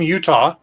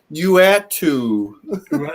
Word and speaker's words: Uatu: One person was calling him Utah. Yes, Johnny Utah went on to become the Watcher. Uatu.